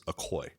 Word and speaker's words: Ocoee: Ocoee? Yeah. Yeah. It's Ocoee. Yeah. It's the correct pronunciation.